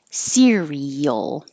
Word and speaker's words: cereal: both parts series and 15 has three syllables cereal cereal and it doesn't matter if it's spelled this way or spelled this way it's the same exact sound so that's well let's